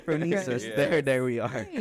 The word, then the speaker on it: Phronesis: She said, bro, just break it up. Fro. Afro. Me. Sis. There you go. Phronesis.